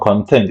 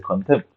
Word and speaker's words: contempt: And it's not content; it's actually contempt.